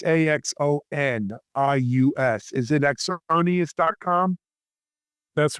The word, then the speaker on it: Axonius: Lenny, for people who want to get more information on Exonius, I'll spell it. It's Axonius.